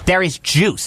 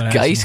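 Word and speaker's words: Derrius Guice: Darius Juice. That's how you pronounce it. I always thought it was Geis because the G, but then there's a U in there. I don't know.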